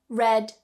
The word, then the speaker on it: read: remove that d reads red red with this one the spelling stays exactly the same however the pronunciation changes read red red ride rides so